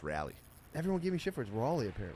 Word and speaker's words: Raleigh: we come back yeah it's pronounced rally everyone gave me [